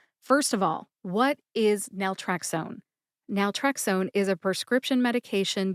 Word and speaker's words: naltrexone: Today, we're talking about Naltrexone. If you're new to my drug name pronunciation series, welcome.